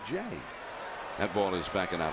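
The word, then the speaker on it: J. A. Happ: not james andrew happ his first name is literally j period a period and he pronounces it jay that ball is backing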